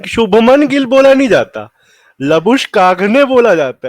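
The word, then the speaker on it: Labuschagne: उसने खुद बोली थी, उसकी प्रोनाउंसिएशन है लबुशकाग ने। उसने एक इंटरव्यू में बोली थी, मैं तब से वही बुलाता हूँ उसको, लबुशेन बुलाते हैं बाकी सब ऑस्ट्रेलियंस भी उसको लबुशेन ही बुलाते हैं।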